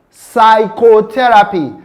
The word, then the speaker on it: psychotherapy: The next word, we have the word psychotherapy. Psychotherapy. The p sound there is silent.